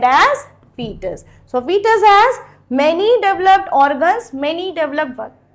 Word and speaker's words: fetus: Do not pronounce it as fetus. It is not fetus, it is fetus.